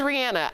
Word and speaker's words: Rihanna: If you listen to the radio, and Rihanna, she said it was Rihanna. I'm going to call her Rihanna.